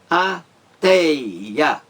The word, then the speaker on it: ateia: Na palavra ateia, ateia, 3 sílabas. A mais forte, qual é?